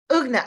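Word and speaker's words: Ugnė: But then I was like, what if the G is silent or the It's not. You just read out loud everything you see.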